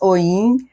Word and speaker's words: oyin: And so there was this beautiful song about o yin. And I just it's always been my favorite word ever since then, ever since I was a little girl. Um, it's actually pronounced oiing and I'm do not pronounce it correctly.